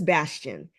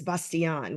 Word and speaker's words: Basan: short quick story is my family says Bastian but the French pronunciation is basan which I took on years ago and so I say basan but you talk to everybody else they say Bastion either way is fine okay well I want